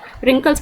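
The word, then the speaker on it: wrinkles: वैसे तो रिंकल्स की स्पेलिंग W से होती है ना, बट हम प्रोनाउंसिएशन पे जाएंगे। रिंकल्स प्रोनाउंसिएशन कहाँ से हो रहा है, W से हो रहा है ना, सॉरी R से हो रहा है प्रोनाउंसिएशन, रिंकल्स।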